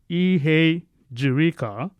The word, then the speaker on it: Ihejirika: But some still call me Dr. Ihe, or some call me Dr. which is still okay. So it's actually pronounced Ihejirika, which in my local